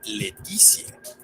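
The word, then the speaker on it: laetitia: Otra norma es que cuando la sílaba TI es seguida de una vocal, se transforma en CI más esa vocal, como en la palabra que se pronuncia Leticia, que significa felicidad.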